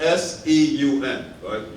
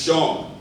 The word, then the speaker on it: Segun: much stop going by that time she actually pronounce my name correct you see my name is called s eu men everybody automatically thinks it's Sean what's actually put down shame now first up